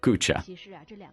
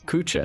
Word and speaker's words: Куча: Древнее название звучало как Кюсина. В процессе тысячелетних фонетических изменений произношение постепенно превратилось в Куча.